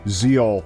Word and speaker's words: Zexal: Zeal Arc and yes I'm going to be pronouncing it Zeal despite the fact that it's spelled zexel [